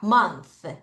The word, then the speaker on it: month: month 다시 month. Th 발음 다시 mon 자, 1년 한 1년 한해.